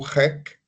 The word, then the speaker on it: hic: Enfim, então, se diz ric, né? Você pode pronunciar esse H, ric, ou rec, ou rock, né? É bom que se pronuncie.